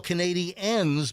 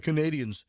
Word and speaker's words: Canadiens: people say up the Canadians. No, it's the Canadiens. You emphasize Well, the it ends in the EN the as ends, opposed to- and it's spelled ENS and not ANS at the very end.